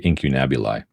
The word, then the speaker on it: incunabuli: How do you say that one again? I say incunabuli.